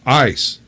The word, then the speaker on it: ass: Ass is pronounced ice there.